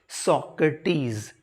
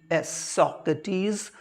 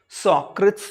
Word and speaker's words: Socrates: founder of western philosophy, that is सॉक्रेटीज, SOCRATES, सॉक्रेटीज, जिसको कुछ लोग सॉक्रेट्स भी प्रोनाउंस करते हैं, और हिंदी में इसको